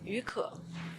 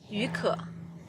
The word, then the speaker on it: 雨可: How do you pronounce that? 于可. Say it again. 于可.